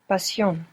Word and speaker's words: Pasión: Pasión. Pasión. Good, and you pronounce the S, because we don't write sh.